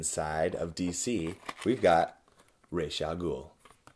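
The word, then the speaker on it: Ra's al Ghul: of dc we've got ray chalgool now back in the day they pronounced it raz algul i'm pretty sure because they didn't have google this cape is ridiculous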